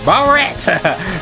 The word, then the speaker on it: Bullet: Bullet! Or as Japanese like to pronounce it, Barret! With their English.